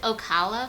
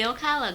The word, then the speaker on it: Ocala: And then Darian is from, is it Ocala, Florida? I'm probably pronouncing it wrong. Ocala?